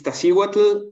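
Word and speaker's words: Iztaccíhuatl: the spelling for those mountain ranges yeah please pronounce those again for us yes so the first one is is tashi wata and the second one is popocatepetl so um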